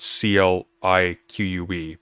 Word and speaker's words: clique: uh it is it is spelled c-l-i-q-u-e but it's phonetically clique and we have to